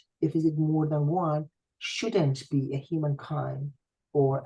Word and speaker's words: و: You don't say کوروش and lots of stuff. Oh, Suzanne. It just really say Kurosho Suzanne. Of course, when I transcribed that, I had to write the letter, right? And that's the V. But in the pronunciation, it has to be Kurosho Suzanne.